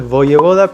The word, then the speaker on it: Wojewoda: Bueno pero en español en polaco es boye boda pero en español es voy boda y